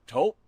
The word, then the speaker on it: Taupe: Or taupe insurance maybe. I don't think so. Say it right. That's t o p. That's taupe.